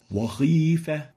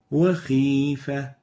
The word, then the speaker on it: وخيفة: Now the second mistake is exaggerating the velarization of the kha, the opposite of this, especially when there is a kasra below it. Wakhifa. And the right way of pronouncing this word and this letter is وخيفة Wakhifa. So it should have the relative tafkhim characteristic in the kha when there is kasra.